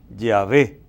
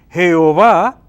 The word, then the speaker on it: Yahvé: Entonces, aquí está el tetragrama, las 4 letras, y dice, la verdadera pronunciación parece ser Yahvé. Entonces dice, Jehová es una falsa pronunciación cristiana del nombre de Dios.